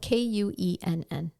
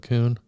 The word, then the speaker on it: Kuenn: James' last name is spelled K-U-E-N-N. Kuenn. Mm-hmm. Kun, whatever. I would probably go with Kuhn. Well, I've heard it Kunen, Kun, Kun, Quen.